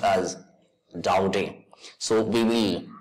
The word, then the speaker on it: Daudet: the word is pronounced doubting it is a French title and it is pronounced as doubting so we will pronounce it orphans Dowdy so orphans Dowdy has